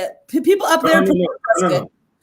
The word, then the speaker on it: Prescott: And the reason why, or Prescott, however people say it, people up there prefer Prescott. People up there prefer Prescott, but a lot of people pronounce it Prescott. And they're all wrong.